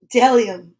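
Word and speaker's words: bdellium: b o is for dellium we doubt anyone knows what dellium is but it's the only word dumb enough to begin with a silent b dellium now let's just check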